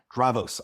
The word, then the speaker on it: Dravos: Dravos, I was told by a local, that's how it's pronounced.